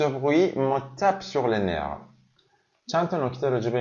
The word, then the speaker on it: nerf: کلمه نرف به معنای عصب اگه مفرد باشه افشو میگم نرف، ولی وقتی جمع بسته میشه دیگه افش تلفظ نمیشه.